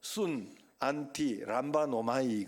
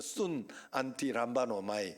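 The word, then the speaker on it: συναντιλαμβάνομαι: 단어를 하나로 묶어서 한 단어를 만들었어요 그게 바로 순 안티 람바 노마이 그러는 거 순 안티 람바 노마이 한번 따라합시다 순 안티 람바 노마이 바노이요 마지막에 잘 발음이 안 돼 람바 노마이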